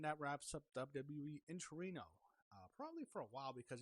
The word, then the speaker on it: Torino: I don't know if you pronounce it Turin, Torino.